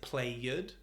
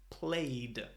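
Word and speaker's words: played: Is it “play-ED”? Is it “play-T”? Well in fact it is neither of these it is “play-D” in this case the “ED” sounds like a “D” you have the “D” but the “E” is silent.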